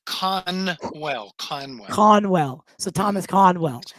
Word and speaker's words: Conwell: Thomas uh is it cross how do you pronounce the last name just so I can make shorts right okay it's con well Conway Conwell so Thomas Conwell um you've had